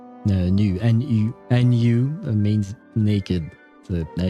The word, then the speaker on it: nu: what is new um in French new it would be pronounced new and you is pronounced new and um uh it means naked in French new nu nu means naked so